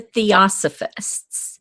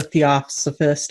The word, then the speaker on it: Theosophist: So I think in Gail Carriger's book, Soulless, there was a Theosophist. Am I saying it right? Theosophist?